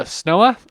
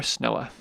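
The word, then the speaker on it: Snoa: es nooga es nooga but in the local pronunciation of Papo the drops out and so it's professionally called the snowa or our snowa so from es snoga to snowa okay here's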